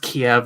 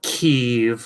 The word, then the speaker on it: Kiev: We know that, and it's pronounced Kiev, not Kiev, like that retarded Ukrainian languages, because it's always been called Kiev for forever.